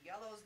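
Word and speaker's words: IELLO: And then all of the manufacturers will come in and tell you what's new in Magic, what's Asmodee doing, Yellow's bringing all this stuff out, what are they doing for organized That's where we play?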